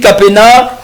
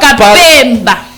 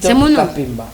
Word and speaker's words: Kapemba: Allez, Kapena, on va Kapemba. Kapemba. Ah, Kapemba. On va s'habituer. Je vais m'habituer avec les temps. Non, il ne faut pas t'habituer, mais il faut prononcer ça comme ça.